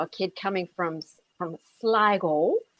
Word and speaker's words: Sligo: kid coming from from sligo which they of course with the diphthong pronounced lego uh the west of ireland